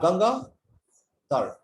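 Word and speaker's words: Gangaadhar: during the meeting well if you break my name into two parts g-a-n-g-a-a hyphen dhar so you have ganga third so you make it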